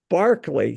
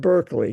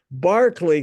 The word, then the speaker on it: Berkeley: at the foot of Barkley Castle not Berkeley Castle Barkley Castle uh which is spelled exactly the same way um on the near